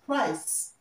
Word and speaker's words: price: Price and prize, okay, this is pronounced price. Yeah, this one is, okay. So the price of the goods, the price of the goods is 100 naira. So the C here is pronounced and not z, okay?